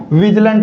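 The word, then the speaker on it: vigilant: इसका correct pronunciation क्या होगा साथियों? विजिलंट होगा। और जिसका अर्थ क्या होता है?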